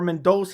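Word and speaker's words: Mendonça: agular versus Matas mendos I always want to say mendosa but I think it's pronounced mendos yeah mendos coming off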